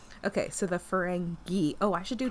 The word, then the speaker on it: Ferengi: It's okay, spelled with just an I on the end. I know, but that still makes me think of fungi.